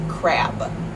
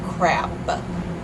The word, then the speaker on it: crab: crap sounds like crap whereas the English pronunciation of the word that means the little like thing that you can eat is crab crab BB with the B sound so hopefully this will